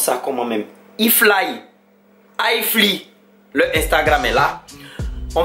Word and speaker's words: iFly: Il y a iFly, on prononce ça comment même? iFly, le Instagram est là.